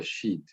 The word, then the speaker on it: sheet: space on the answer sheet. on the answer Sheet. street. ¿Cómo se Sheet. dice? Sheet. She. Sheet. Sí, sí, se pronuncia como si fuera la palabra grosera esa.